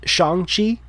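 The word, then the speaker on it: Shang-Chi: kevin feige has come out and said it's pronounced shanghi is the pronunciation they're going with i only know that because i follow movie news and stuff but yeah shanghai from what i hear it's really great um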